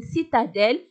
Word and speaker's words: citadelle: إذا لا لتر C se prononce S. علاش؟ لأن موراها إي. إذا غنقولوا une citadelle لأن موراها إي.